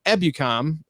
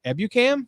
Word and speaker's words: Ebukam: Traven Howard, and Samson Ebukam. Ebukam? You said it right the first time.